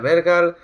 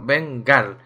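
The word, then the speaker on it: Vengarl: Armadura de Vergal, guantes de Vergal y botas de Beren. Bueno, Vengal, que no lo pronunciaba bien.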